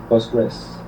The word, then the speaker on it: Postgres: Buster uh uh po equal how do you pronounce it in English post postgress postgress and post yeah postgress okay uh so postgress